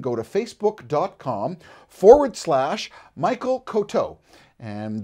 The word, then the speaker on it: Coteau: to facebook-dot-com forward-slash Michael Cote oh and that is spelt koto Co t e a you and you can post